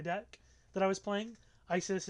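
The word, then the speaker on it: Ysys: but there's there so isis is a is a card in my deck that i was playing isis is y-s-y-s and it's pronounced the same as the other isis but anyway the point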